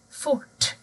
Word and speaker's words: fort: Har du R och T, då blir ljudet fort, avfart. Man hör inte R heller.